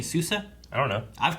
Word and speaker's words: Sousa: keep pronouncing souza's name the emphasis on the second s throws me off like everyone involved just